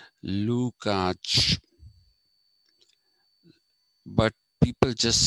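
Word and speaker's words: Lukács: name is luca so it has to be lukach that's the german uh sorry hungarian pronunciation lukach but people just say lukach though technically it's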